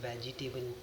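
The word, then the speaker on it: vegetable: पढ़ा जाता है वेजिटेबल वेजिटेबल ई साइलेंट है जो आपको नजर आ रहा है जी के बाद वेजटेबल वेजिटेबल नहीं है वेजिटेबल पढ़ते हैं इसको कंफर्टेबल हमने सुना होगा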